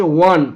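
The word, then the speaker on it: one: দেখো ও ভাওয়েল তবু বসছে এ, কেন জানো? ও এর উচ্চারণ যদি ওয়ার মতো হয় এ বসে, ওয়ার মতো না হলে অ্যান বসে, এখানে ওয়ার মতো হয়েছে ওয়ান, ওয়ান মানে কি? ওয়ার মতো হয়েছে, তাই বসছে এ।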